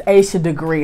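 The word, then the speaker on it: Asha Degree: I always get her name wrong. It's Aisha Degree.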